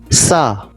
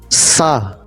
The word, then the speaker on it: ça: Now the letter C with the cedilla should be pronounced like a letter S.